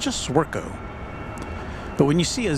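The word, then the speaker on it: Zwirko: at it and they just kind of like Ziro and you know just it's just zco but when you see a z and a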